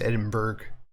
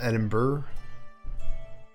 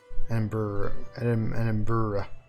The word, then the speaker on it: Edinburgh: Yeah, it looks like you would just say Edinburgh, but it's Edinburgh. Edinburgh.